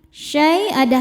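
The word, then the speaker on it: شيئا: Syai'a, saat berhenti hukumnya mad iwad karena ada harokat tanwin fathah yang diwakofkan. Cara bacanya dipanjangkan 2 harokat ya tanpa ada bunyi n-nya. Syai'a. La tughni syafa'atuhum syai'an.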